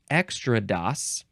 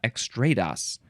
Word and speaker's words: extrados: like extra do but there's a few ways you can pronounce this you can say extrados extra do or extra do or extrados is that the last one yeah extrados okay this is a noun